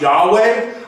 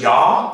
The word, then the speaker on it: Yahweh: Some scholars think it's pronounced Yahweh, others just Yah.